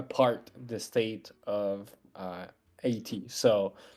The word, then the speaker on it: Haiti: And then like English speakers just like, oh, okay, that's a diphthong. That's Haiti. And I was like, okay, fine. Fine. Uh but yeah, that's like why it's pronounced that way in English.